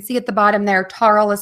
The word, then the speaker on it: Tarle: And you can see at the bottom there, Tarle is spelled T-A-R-L-E, speech, S-P-E-E-C-H, that's all one word, .com.